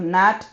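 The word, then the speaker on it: gnat: these uh letters for silent G we have Nat n and n so they all have G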